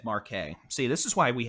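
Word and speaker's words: Marquez: makes my life easier that is pronounced Mar by the way uh forget that Z exists Mar Marque so those of you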